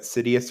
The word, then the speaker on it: Sidious: The way I remember it, which is problematic because I don't like to call people ugly or not, but Sidious rhymes with hideous, and after his um, fall and the Empire and stuff, like hideous.